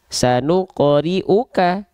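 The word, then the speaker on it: سنقرئك: Sip, maka dibacanya riuka, sanuqri'uka, sanuqri'uka, ka. Gitu, tidak ki, tidak ku.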